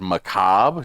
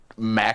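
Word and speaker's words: macabre: One night when Bridget and I were on stream and the word Macob.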